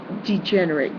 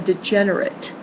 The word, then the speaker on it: degenerate: crime and stuff then they might degenerate they be they could become a degenerate that's a different pronunciation same spelling okay a degenerate is